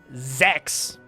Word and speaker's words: Zex: get that one correct the Eton Zex rhymes with gex uh renowned glimmers the